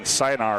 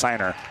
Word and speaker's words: Siner: I pronounce it's Brody Siner. Yeah, you said Siner. Did I say Siner? I was saying Sinar earlier, but it's Siner.